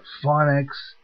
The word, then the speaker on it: Phonic: this is a fun phonics I guess it's pronounced pH o n I see phonic is given to me